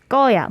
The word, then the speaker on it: 거야: Like you have to pronounce the ko in a tensed way. 거야. 보낼 거야. 보낼 거야. Yes. It almost sounds like a 상기역. 보낼 거야. Yes. Even though it's spelled 거야.